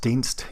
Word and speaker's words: Dienst: It's pronounced Dienst. You can tell just by mousing over the title.